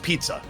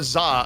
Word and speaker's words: ZZA: Za is like, actually, I want to be pronounced pizza. It's like, no, there's no P and I here. We are not pronouncing ZZA pizza. You are Zah until you change your name.